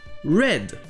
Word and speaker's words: read: un verbe irrégulier, et ses formes passées donnent read. C'est la même orthographe, mais la prononciation du EA est différente. Ici, c'est le son est, red, comme la couleur rouge, red.